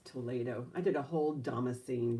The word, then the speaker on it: Toledo: It's spelled like Toledo, but it's pronounced Toledo. And it's like a product from Spain. And Lily, she's the one who corrected the pronunciation for me. It's Toledo.